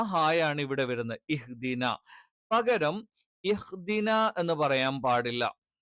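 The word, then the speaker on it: اهْدِنَا: ഹായാണ് പകരം ഹ ആയി പോകരുത്. ഇഹ്ദിന എന്ന് ഒരിക്കലും വരാൻ പാടില്ല.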